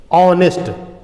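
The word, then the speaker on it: honest: कभी कभी हम वॉवेल रहता भले ही है, लेकिन हम प्रोनाउंसिएट करने के दौरान कॉन्सोनेंट प्रोनाउंसिएशन यूज करते हैं। कभी कभी कॉन्सोनेंट से स्टार्ट भले ही रहता है, जैसे ऑनेस्ट, यदि हम ऑनेस्ट लिखते हैं तो ऑनेस्ट तो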